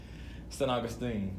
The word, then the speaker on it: San Augustine: San Augustine, you know, it's not Saint, Yeah. it's San San? Augustine, like Yeah. San Antonio, San Mhm.